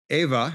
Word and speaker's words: Ewa: glad I'm here currently I'm on Ava which is spelled Ewa it's near Pearl Harbor